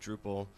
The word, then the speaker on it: Drupal: And so he renames the project to be, as it is today, Drupal. So it's much easier. Of course, we still get people who try to pronounce it like Drupal.